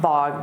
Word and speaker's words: bogged: And notice that pronunciation, bogged. Bogged down, because when you say the D from down, you won't hear it so much on the past simple of the verb bogged down.